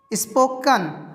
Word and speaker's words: spoken: क्या हो जाता है, अगर EN हो तो उच्चारण अ होगा, ई का उच्चारण अ होगा, इसीलिए यहाँ पे स्पोकन बोलेंगे, क में अ की ही मात्रा रहेगा, ए नहीं करेंगे, स्पोकन नहीं।